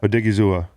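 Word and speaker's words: Odighizuwa: And so you could see him unlocking the other rookie they drafted, Osa Odiguzua. I think I got to learn his name. We're really good at pronouncing names on this podcast. Odigizua.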